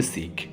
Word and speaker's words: শিখ: শিখ নামে প্রচলিত হলেও এই শব্দটির সঠিক উচ্চারণ হবে শিখ।